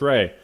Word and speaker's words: Rhea: Hey, it's pronounced Ray. So, my bad. Uh, this is Ray with Vince Gilligan talking about uh painting.